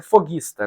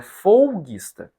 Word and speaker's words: folguista: folguista é fistas folguista Às vezes a pronúncia foguista né mas é folguista eu sempre vi os